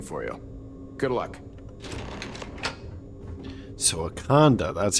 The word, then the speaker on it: Ikande: should be waiting for you good luck so aanda that's how you pronounce that okay H okay hello hi what's